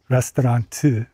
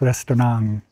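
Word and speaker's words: 레스토랑: Korean, it would be restaurant. But they don't, these places didn't have that. It was restaurant, you know, like I guess the French pronunciation had a little ng on the end of it.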